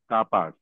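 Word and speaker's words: capaz: okay नापास okay sir कितने syllabus हैं का हम एंड पास वेरी गुड का पास तो यहां पर है कापास मतलब कैपेसिटी ओके मेर से कितने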